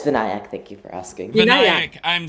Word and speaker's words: Vinayak: and uh welcome uh VNC am I pronouncing your name correctly um no but it's not a problem sorry how do you say your name uh uh it's vanc thank you for asking